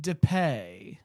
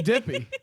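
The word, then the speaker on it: Dippé: DePay. DePay. The pa- I mean, for the way it's spelled, that was a great pronunciation for AZ Brad. Dippy. It's got to be It's A.Z. Dippy.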